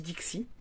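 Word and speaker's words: Dickce: Et alors moi je dis Dixy mais ça s'écrit D I C K C E Dix. Mais Dixy, je vais dire Dixy parce que sinon c'est moche.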